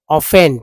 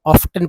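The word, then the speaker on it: often: ऑफस goats goats very ऑफेन टी जो है silent है टी साइलेंट है ऑफेन में कुछ लोग हमेशा ऑफ्टन पढ़ देते हैं तो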